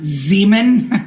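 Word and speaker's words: Xeomin: um Z I mean technically it's pronounced Zeman which is like stop like like look sounds like Sean it's like I go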